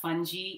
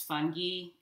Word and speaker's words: fungi: Also in Latin, the G is pronounced as a hard sound, so it's not fungi, it's fungi.